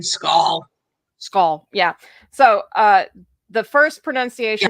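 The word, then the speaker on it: Sgaeyl: Then the actual pronunciation of what it's supposed to sound like is skull, and it means shadow. So it's skull, not shigale.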